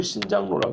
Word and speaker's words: 신작로: 가다 본 거 있잖아요 신작 노 라고 발음은 신짱 올라 그렇죠 아 한자 표 그들입니다